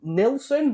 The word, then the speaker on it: Nielsen: It's got Leslie Nielsen, is that how you pronounce it? Yeah, Nielsen. And Ted Danson from Cheers.